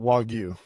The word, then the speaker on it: Wagyu: And how pronounce it for me? Yeah, so Wagyu, Wagyu.